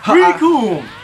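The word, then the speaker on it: Recoome: Riku! It rhymes with Doom!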